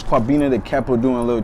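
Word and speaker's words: Kwabena: born on a tuesday so it's kabina it's like it's spelt and k-w-a-b-e-n-a but i changed it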